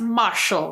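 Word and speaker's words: Mashle: Like with um it's pronounced Marshall, right? Mhm. Yes. Both are equally awesome. And yeah, but I've seen two uh episodes of Matchel Might and Magic.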